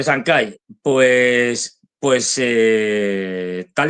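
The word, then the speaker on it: Chancay: inaugurado de de eh A ver si lo digo bien de sanai no se pronuncia se dice el puerto correcto de sankai pues pues eh tal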